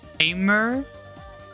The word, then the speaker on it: Aimer: Or the way it's spelled in English for those of you who are English speaking is Aimer, A-E-M-E-R, but Aime is how you would say it in Nihongo.